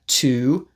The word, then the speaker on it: to: Today, we're going to look at to, do, can, for, and or. To is almost always pronounced t.